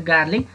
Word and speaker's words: garlic: This is not a garlic. Garlic. Garlic. Yo r chai silent huncha.